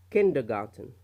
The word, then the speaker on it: kindergarten: The next one, kindergarten, kindergarten, kindergarten. Now again, kindergarten, the stress is on the K اللي هي الشخطة موجودة